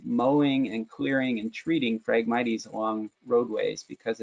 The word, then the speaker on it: Phragmites: Phragmites, the word, starts with PH, so Phragmites is how you say that, invasive Phragmites, and it